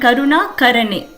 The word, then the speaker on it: Karuna Karane: Karuna Karani, Karuna Garane. and Karuna Karane. Karuna Karani, Karuna Garane. Shiva Bala, Shiva Bala. Karuna Karani, Shiva Bala, Karuna Garane, Shiva Bala. So Karuna Karane, that let's pronounce as Ka.